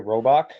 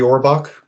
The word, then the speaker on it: Orbach: Potts, David Ogden Stiers as Cogsworth, and what is it, Jerry Robach, something as Lumiere? Jerry Orbach. Orbach. Okay, I couldn't remember how you Yeah, pronounce his yeah, last name, but yeah, those